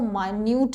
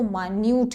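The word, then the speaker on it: minute: अति सूक्ष्म that means इसको माइन्यूट कहते हैं मिनट भी होता है मिनट की भी स्पेलिंग यही है बट जब हम किसी को बहुत बारीक के सेंस में बात करते हैं तो उसको मान्यू कहते हैं मा न्यूट मैं उनका लेख नहीं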